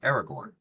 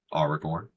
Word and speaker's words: Aragorn: People say Aragorn, right? That's one way. Aragorn, that's one way. Aragorn, where you kind of trill the R's a little.